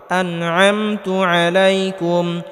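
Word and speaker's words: عليكم: পেশুলাম calf পেশ আলাইকুম আলাইকুম আইন গলার মধ্যে হালকা চাপ দিয়ে উচ্চারণ করতে হবে আলাইকুম ওর হামজা নবামে তা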